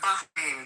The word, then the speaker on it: Bahrain: Bahrain, by the way, is how you say it, but they're absolutely our allies.